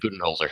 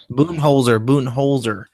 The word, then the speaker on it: Budenholzer: How do you pronounce his Uh, name? Do you Mike know? Budenholzer, yeah, Budenholzer.